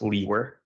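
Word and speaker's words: Liewer: name is and my last name is spelled l-i-e-w-e-r and it's pronounced Lee were and where are you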